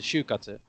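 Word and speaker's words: 就活: If they shorten it and take Shu and Katsu, they turn it into Shu Katsu. When you see those two characters together for Shu and Katsu, you understand that it represents Shu, Shoku, Katsu, Do. Right. But And you then would pronounce it as shukatsu. exactly. Yeah. You would say Shu Katsu.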